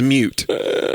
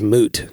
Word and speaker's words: moot: on it o cuz the word everybody is moot m o o t oh wait a minute